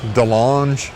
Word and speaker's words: DeLonge: Is this like a Tom DeLonge or whatever, however you say his name? Yeah. DeLonge.